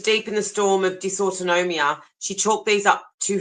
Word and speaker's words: dysautonomia: Dysautonomia? Dysautonomia, yeah. This basically means dysfunction. DYS is dysfunction. Autonomia is autonomic nervous system. That's what that means. Yeah. When she was deep in the storm of dysautonomia, she chalked these up to her condition.